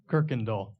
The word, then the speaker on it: Kuykendahl: I would say Cookendall. Jeff? I've never seen this one. Kuykendall. What do we got? Kirkendall. Kirkendall. Kirk.